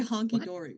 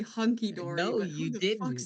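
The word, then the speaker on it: hunky-dory: I didn't even say it right anyways. It's technically hunky dory.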